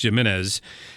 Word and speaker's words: Gimenez: the mayor of Miami Dade County Mayor Carlos Gimenez can I assume that's how it's pronounced first letters of G and not a why but it's Jimenez came out and and this is how he